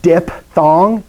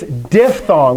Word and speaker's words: diphthong: where i spell it dip thong dip it's not it's diphthong with a ph and i only harp